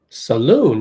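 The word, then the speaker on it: Salaün: Saloon. Yeah. Saloon. Emphasis on the second syllable.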